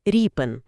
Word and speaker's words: Ріпин: В матеріалах, знаєте, пропонують його називати саме Ріпен з наголосом на українськості.